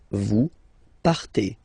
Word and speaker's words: partez: Okay, then for vous, classic ending for vous as well, EZ, but then you pronounce it et. Vous partez, vous partez.